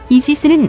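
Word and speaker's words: Aegis: 제우스의 방패 아이스에서 유래했으며 이지스는 아시스의 영어식 발음이라고 합니다 한 명 모든 것을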